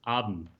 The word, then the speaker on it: haben: Haben with the H. Haben. I'm sorry. It's not Spanish where the H is silent. Sorry. Exactly. Yeah, because otherwise it would it would sound like Abend, and Abend is the evening.